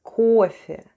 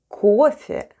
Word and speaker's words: кофе: And the last new word for today is кофе. Кофе. Кофе. Let's spell the word кофе. The first sound is K, then goes O, and it's stressed and is pronounced as O.